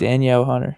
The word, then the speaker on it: Danielle Hunter: That's how I pronounce it. Yeah, that might be it. It's Daniel Hunter. It should be from Minnesota. Danielle Hunter.